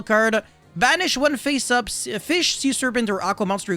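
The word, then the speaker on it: Ghoti: theme that i'll be covering will be the goatee which apparently is pronounced fish it makes no sense whatever so yeah it's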